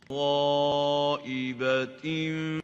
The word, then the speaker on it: غائبة: So غ is attenuated, while A is tafkhim. غ instead of A tafkhim. Let's listen. غائبة. This is the right way of pronouncing it. غائبة, not غائبة.